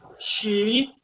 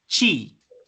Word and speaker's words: she: She plus is queda she's. Entonces, miren, la pronunciación aquí es muy importante. No es chi. No es como con un che, chi, sino she.